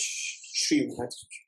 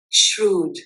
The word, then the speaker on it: shrewd: It's not pronounced as shred. Okay. Shred means shrewd shrew.